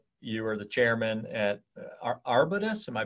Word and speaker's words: Arbutus: You were the chairman at Arbutus. Am I pronouncing that correctly?